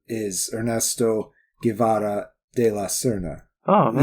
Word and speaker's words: Guevara: Or is it Guevara? It's Guevara. Guevara. The V's are closer to B's in a lot of Spanish accents, but I don't know how to say it that way.